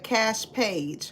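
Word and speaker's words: Kaash Paige: But it's by Cash Page. Her name is spelled Kaash and then Page Paige.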